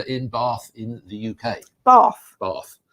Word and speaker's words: Bath: Bath. Not Bath, or Bath, or however else it's pronounced. No. We can never get it right, can we? Bath. That's what it is.